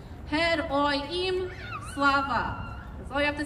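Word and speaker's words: Героям слава: The response is fairly simple. It's only a couple syllables. It's Hed Oy Im Slava.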